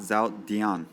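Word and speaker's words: Zildjian: z z Zin yeah it's actually pronounced zon I've been saying it wrong some uh zilin uh symbol one crash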